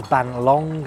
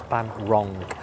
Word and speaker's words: Bang Rong: I may have said it was Bang Long earlier on, but it's Bang Rong. That's the correct pronunciation of pier just over here.